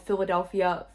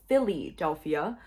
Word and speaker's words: Philadelphia: Michael Vanderveen called Philadelphia Philly-delphia while talking about how he could take witness depositions at his office in Center City.